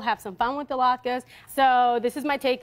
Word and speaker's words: latke: Latke.